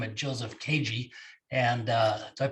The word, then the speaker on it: Kajy: We've got a special guest by the man by the name of Joseph Kajy. And did I pronounce that right?